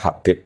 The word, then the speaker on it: Habib: Tapi yang benar Oh, nggih. Yang benar itu bacanya Habib.